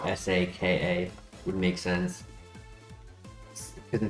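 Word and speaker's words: Sokka: I can see how S A K A would make sense because it's it's pronounced Saka like sock.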